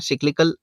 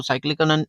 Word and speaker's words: cyclical: Topic का नाम है सिक्लिकल अनएम्प्लॉयमेंट। कुछ लोग इसको साइक्लिकल अनएम्प्लॉयमेंट भी कहेंगे। प्रोनाउंसिएशन का फर्क है और कोई फर्क नहीं है।